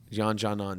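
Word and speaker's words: Yan Xiaonan: Jan Janan, there it is.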